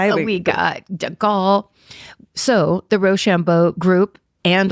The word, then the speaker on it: de Gaulle: And that's France's government in exile led by Charles de Gaulle. That's the French pronunciation.